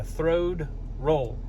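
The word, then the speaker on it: throwed roll: claim to fame is the throad roll i did not mispronounce that so throw the roll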